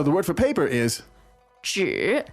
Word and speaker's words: 纸: Yes，还有一张纸，还有一张纸 Okay. So this 还有 meaning means in addition or also. good. 还有 and one piece of paper. 一张纸，一张纸， So the word for paper